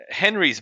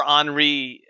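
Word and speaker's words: Henri: have been mispronouncing that you see it ends in an i so we're going with henry yeah it's been around for a long time too it hasn't been uh i can remember anri i mean a long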